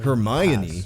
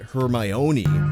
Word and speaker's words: Hermione: First of all, her name is pronounced Hermione, not Hermione. You can remember where the accent goes because it's on the my, as in Hermione is my girl, not yours.